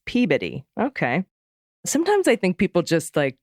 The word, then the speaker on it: Peabody: the one everyone gets wrong is Peabody it's Peabody okay sometimes I think people just like grab and just do it just pronounce it weird just so it'll you know